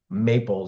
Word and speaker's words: MAPL: And maybe people aren't realizing that it's pronounced maple.